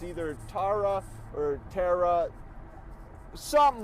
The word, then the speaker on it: Tara: I swear, if her name is Tiara, it is spelled so stupid. So it's T-A-R-A. So if it's it's a hard T and then you era. Tiara. No, that's not how the English language works.